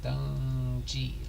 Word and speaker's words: Dungy: the good ones gungi pronounced Don G like G whiz Donald Dungey okay and